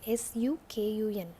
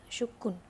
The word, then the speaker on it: Sukun: You have to pronounce it like S-U-K-U-N, Sukun. Yeah, Sukun.